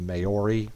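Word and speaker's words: Māori: songs are written in the Maori that's how you pronounce it language so yeah that's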